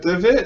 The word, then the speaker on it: Devitt: I heard that Prince, is it Devitt? Is that how you pronounce it? Yeah, Prince Devitt, yeah.